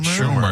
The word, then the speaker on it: Schumer: Schumer.